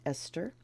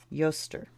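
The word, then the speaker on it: Eostre: I'm tempted to pronounce it Esther. Growth. I don't know if it's pronounced actually Easter. The holiday is Ostara. Let's take a look. Lots of E's. Okay. Yoster. Yoster.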